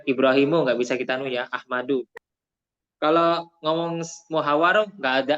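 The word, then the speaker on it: أحمد: Ahmadu, nggak boleh Ahmadun karena isim ghairu musoref ya.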